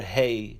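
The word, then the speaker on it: ה: America value of 5 the letter hei is pronounced as a huh the next letter is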